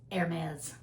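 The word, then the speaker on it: Hermès: and went inside the Hermes store. Hermes. Hermes. Hermes. Been trying to learn how to say it properly. The E R is like air. Like the air you breathe, Hermes.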